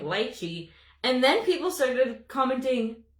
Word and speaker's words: lychee: in the shade Lychee, someone said to pronounce it like peachy, but with an L. So I started doing that because I was saying lychee. And then people started commenting, it's called lychee.